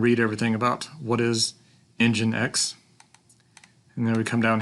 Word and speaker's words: nginx: got a link here how to install the ng INX web server so what is ng INX or nginx is the pronunciation it's an alternative to the extremely popular